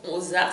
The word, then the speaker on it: Mozart: Moi je dis Mozart, je prononce en allemand, Mozart si vous voulez, tout en laissant une